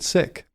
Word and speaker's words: Sikh: And a lot of times I thought you were supposed to pronounce it Sikh, but I just found out you're supposed to pronounce it Sikh.